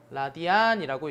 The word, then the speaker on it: 라디안: 읽기로는요. 라디안이라고 읽어주면 됩니다.